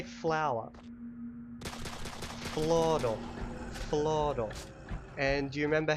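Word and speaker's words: floro: you remember so how do you say flower Flor Flor and do you remember how to say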